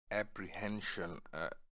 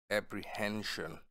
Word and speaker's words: apprehension: उसने एक मुकामी बढ़ाई के साथ शागिर्दी की और ये है ये वर्ड है apprehension. H pe stress hai apprehension. Apprehension mean giriftari bhi khadsha.